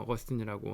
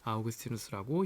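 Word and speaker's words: Augustinus: 그래서 문자로 적을 때는 라틴어 표기를 하고 어 발음을 할 때는 그냥 어거스틴이라고 하기도 해도 되고 아오그스티누스라고 이야기해도 됩니다.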